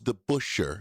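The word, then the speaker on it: DeBoucher: Debusher knocks down a big Der pitched in the major leagues, just so you know. And the pronunciation is the Busher.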